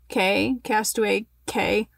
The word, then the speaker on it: Castaway Cay: which is going to be a Bahamian cruise where it sails to Nassau and then their private island, the Castaway Castaway Cay, whatever. It's key. Yes.